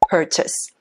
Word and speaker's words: purchase: purchase. purchase라고 하지 않고 purchase로 발음합니다. 한 번 더 purchase.